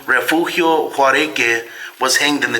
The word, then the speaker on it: Refugio: So Maximo was the one that was publicly hanged, but Refugio Juareque was the man that was hung here. Let's try again. Yeah. Well, how do you say his name? Refugio? Yeah, Refugio.